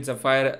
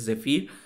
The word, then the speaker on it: Zephyr: a model called Zafir I was pronouncing it zafire uh during that video a lot of you corrected me saying it is zir I hope I'm pronouncing